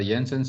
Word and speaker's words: Jensen: is something called uh jensen's inequality so j is silent here because it's a dutch name uh jensen okay so jensen's inequality